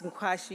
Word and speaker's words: Nkwashi: I always say to people that if you struggle or you can't remember how it's pronounced, just remember Kwashiorkor. So, yes, it's Nkwashi, you'll quickly get it.